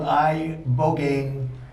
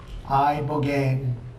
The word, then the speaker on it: ibogaine: In 2024 study from Stanford University, 30 special operation veterans with traumatic brain injuries underwent, it's called ibogaine treatment. Ibogaine. Remember the name. Is that pronounced relatively properly, what you said?